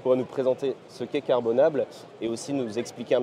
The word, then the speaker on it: Carbonable: présenter ce qu'est carbonable on prononce à la française d'accord c'est carbonate on laisse libre cours française donc est-ce que tu pourrais nous présenter ce qu'est carbonable et aussi nous expliquer